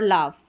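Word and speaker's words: laugh: चलिए नेक्स्ट देखें, जब किसी इंग्लिश वर्ड में शॉर्ट साउंड वाउल के बाद जी एच आए तो जी एच का उच्चारण फ रहता है शॉर्ट साउंड वाउल के बाद में।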